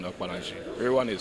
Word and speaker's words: Okpanachi: My name is Real Wan Okpanachi. Real Wan is spelled as r e a l w a n.